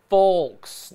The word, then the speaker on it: folks: Folks. Nobody ever pronounces the L.